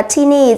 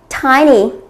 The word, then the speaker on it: tiny: Câu A chúng ta sẽ không đọc là teeny. Rất nhiều bạn chúng ta sẽ đọc là teeny. Chúng ta sẽ đọc là tiny. Tiny.